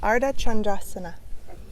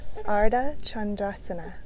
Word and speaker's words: Ardha Chandrasana: Crescent moon is often called Ardha Chandrasana. Ardha meaning half, Chandra meaning moon, Ardha Chandrasana. Let's say it together. Ardha Chandrasana.